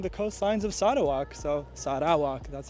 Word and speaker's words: Sarawak: that grow along the coastlines of sadak so Sak that's how you pronounce it correctly um so let's go see